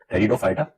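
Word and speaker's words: Pteridophyta: टेरिडोफाइटा, T silent होता है, टेरिडोफाइटा।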